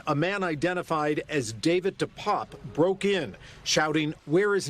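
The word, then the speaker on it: DePape: His family says David Dupop, as they pronounce it, was born in Canada and came to the United States 2 decades ago.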